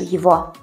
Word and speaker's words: его: Ad esempio, «Я не вижу его». Quindi «non lo vedo» si traduce come «Я не вижу его». «Его» si pronuncia con la lettera «в».